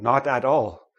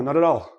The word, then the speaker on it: not at all: So nobody, like native speakers, don't say not at all. Oh no, not at all. We don't say it like that. We say, oh, not at all. Not at all. Not at all, right? The T, so this becomes na, ta, tall.